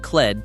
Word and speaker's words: QLED: But, and this is the part that matters, Samsung named QLED to rhyme with OLED on purpose.